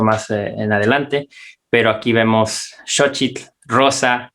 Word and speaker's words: xóchitl: son los totopos que se llaman socheat técnicamente pero ellos te enseñan que se pronuncia soft chile xóchitl y atrás tenemos que en inglés para los que hablan inglés aquí diría shows en show crist show y xóchitl como ellos lo pronuncian entonces que quiere decir